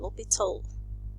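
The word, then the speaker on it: L'Hôpital: topic in advanced calculus called the libertal rule okay this is um how you um normally uh pronounce it sometimes in certain book it's called lopitol without an s here okay so um this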